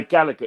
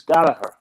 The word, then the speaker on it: Gallagher: We say Gallagher. It's not how you pronounce it. It's Gallagher. They say Moran.